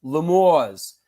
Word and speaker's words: L'Amour: It was promoted as the rock capital of Brooklyn, commonly pronounced Lamour's by patrons.